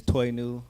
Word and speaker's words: Toinu: Um, my name is Toy New Reeves. Uh, it's pronounced like new toy backwards.